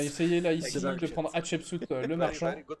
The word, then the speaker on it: Hatshepsut: Alors, il va essayer là ici de prendre Hatshepsut, le marchand. Very good pronunciation.